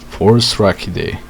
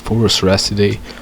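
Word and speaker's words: Phorusrhacidae: Forus-Rachidae. Forus-Rachidae, also sometimes pronounced as Forus-Racidae, was technically not a dinosaur but instead a group of mostly flightless group of birds.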